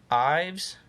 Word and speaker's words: Ives: unfiltered Alaska Ives I've this Ives is that how that's pronounced Ives okay cool and then let's see